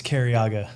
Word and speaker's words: Cariaga: you say your last name it's uh it's cariaga kariaga well welcome how you doing today yeah